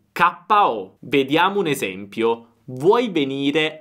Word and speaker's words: KO: Attenzione alla pronuncia, all'italiana. KO, KO.